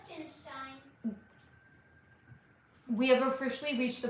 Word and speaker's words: Liechtenstein: Liechtenstein. Is it true that many of the world's... That's not how you pronounce it. It's pronounced Liechtenstein.